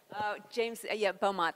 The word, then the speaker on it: Beaumont: Beaumont. That's how we pronounce it over here on this side of the this side of the water.